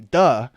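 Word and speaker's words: 德: need to know is da da d e duh is the the Chinese word for virtue that is used within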